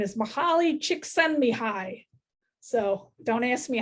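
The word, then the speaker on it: Csikszentmihalyi: dr pat villeneuve at fsu was how to pronounce this guy's name because she made us practice it and his name is mahali chick send me high so don't ask me how i remembered that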